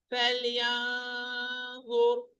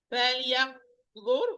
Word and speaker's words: فلينظر: فلينظر. This is correct. فلينظر. This is not correct. Pay attention to this. فلينظر. Ra, it's فخامة, it's heavy.